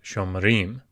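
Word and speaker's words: שֹׁמְרִים: Instead of shomer, you have shomerim.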